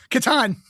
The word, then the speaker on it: Catan: Well, how do you pronounce Klaus Teuber's game? The Settlers of Catan.